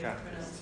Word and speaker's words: catalyst: It's a stress on the first one. Yes, yeah. Catalyst, yeah.